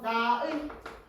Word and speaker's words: 나의: 그래서 의랑이 둘 다 그다음 조사 같은 경우에는 뭐 나의 나의라고도 하나 나에도 상관없죠. 그래서 사람들이 쓸 때 나라고 잘못 많이들 쓰지. 애라고 발음하기 때문에.